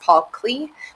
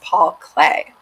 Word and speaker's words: Paul Klee: spell his name and it might look like it's pronounced paul clee but it's actually pronounced paul clay and he was a